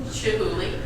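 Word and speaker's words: Chihuly: going to the oh I always mispronounce this the chulian Glass Museum Chuli Chuli there we go I was corrected by my offset director um so the Chuli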